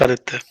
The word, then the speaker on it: Aditya: So hi Aditya, are you there? Yeah, yeah. Hi. Hi. So did I have pronounced your name correctly? Is it Aditya? Na? Yeah, it's Aditya.